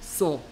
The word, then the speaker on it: Saw: 뭐 우리말 한글 제목으로 소우라고 이렇게 한글로 했는데 이거는 잘못된 발음이야. AW는 그냥 발음 기호로 하면 이렇게 생긴 발음이고요. 우리말 발음과 가장 유사한 거는 O입니다. O. So.